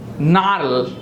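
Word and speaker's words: gnarl: નાર્લ.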